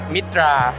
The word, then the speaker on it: MITTA: ชื่อ บริษัท ผม นะ ครับ อ่าน ว่า เอ่อ มิตรา ขอ อีก ที ขอ แน่น ๆ เน้น ๆ